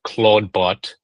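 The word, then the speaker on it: Clawdbot: Um, there was this like over the weekend basically there's this new sort of like AI open- source AI agent called Claudebot. It's spelled claw like c l a w bot.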